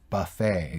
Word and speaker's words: buffet: a French word that's that's why they don't pronounce the T exactly exactly exactly but